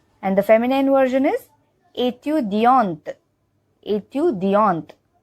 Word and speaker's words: étudiante: the feminine version is étudiante. Étudiante. So in the masculine version, we don't pronounce the T, ending wala T, but in feminine version, we do pronounce it.